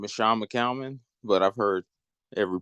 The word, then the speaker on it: Shawn McCalman: to giggle um well uh my name is Sean mcalmon but I've heard every pronunciation you could think of so I wouldn't